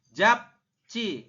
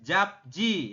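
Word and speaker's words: 잡지: t ya seperti itu jap Ci bukan jabji ya ini kan tulisannya jabji teman-teman Oke Anda membacanya jabcii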